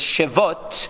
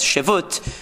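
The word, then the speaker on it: שבות: Some people translate it, pronounce it as shevut. The Steinsaltz has it as shevut. The grammatically correct way would seem to be shevot, because it comes from the word tishbot.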